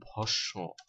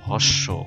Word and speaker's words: ভস্ম: ইত্যাদি ঠিক তেমনি ভাবে ভস্ম শব্দটার উচ্চারণ কিন্তু ভস্ব কেউ আবার ভস্ম বলবেন না ভসম তেমনি ভাবে ভাস্কর